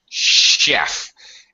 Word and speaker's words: chef: it to ya ah chef is one of those words where the CH actually makes an SH sound in English like Chicago and sheiks